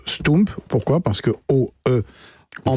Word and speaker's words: stoemp: et ça se prononce ce tome pourquoi parce que au port vers j camp flamand ça se prononce ou comme pouces comme poelvoorde comme un certain nombre